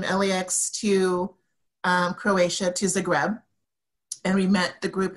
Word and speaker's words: Zagreb: the greb so I say that again and spell it Zagreb z a g Reb okay it's one of